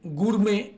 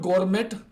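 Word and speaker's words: gourmet: like to बी अ गुर मेंे this is नॉट गोरमेंट इट इज नॉट गोरमेंट इट इज गुरम गुर मेंे गुर मेंे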